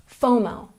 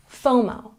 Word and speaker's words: FOMO: and checking our pronunciation we put the stress here on the first syllable fomo fomo number nine chill this